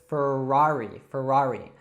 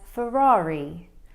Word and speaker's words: Ferrari: All right, so in the United States, we love our R's, so we would call this Ferrari. Now, let's actually hear how they would call it in the UK. We pronounce this as Ferrari.